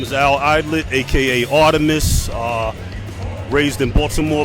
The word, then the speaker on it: Alaydlett: That's my name, Al Eidlet, number 2, because I'm the second.